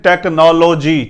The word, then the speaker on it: technology: हम इसे करते हैं टेक्नोलॉजी, टेक्नोलॉजी। तो जो टेक्नोलो है वो नहीं कहना, क्या कहना है हमने? Take, TECH, take, NAUL, knoll, GEE, टेक्नोलॉजी, टेक्नोलॉजी। टेक्नोलॉजी नहीं कहना, टेक्नोलॉजी, ठीक है, टेक्नोलॉजी, टेक्नोलॉजी।